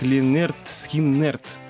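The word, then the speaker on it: Lynyrd Skynyrd: Произносится она как Линерт Скиннерт.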